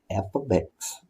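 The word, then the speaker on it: f(x): in class this course this symbol is read as f ofx that's how you say it it's the value of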